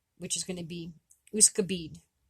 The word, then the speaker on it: Wskôbid: is going to be Wskôbid. Wskôbid or Wskôbit, because again, the D and the T are interchangeable.